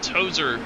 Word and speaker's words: Tozer: 14th, William Tozer. Rhymes with Dozer.